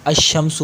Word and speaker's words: الشمس: وہ چھپ جاتا ہے۔ اب دیکھیں الشمس پڑھا، یعنی لام کا تلفظ ہی نہیں کیا، تو اس وجہ